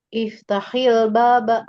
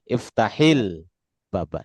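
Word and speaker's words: افتح الباب: Misalnya, misalnya iftah al baba. Gimana bacanya? Iftahil baba. Nah, kasrohkan kan? Iftahil baba.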